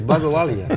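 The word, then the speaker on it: Bhagowalia: Sunny Bagwalia is the state Bagwalia. CIO. You missed. I think that's close. Yeah, Bagwalia.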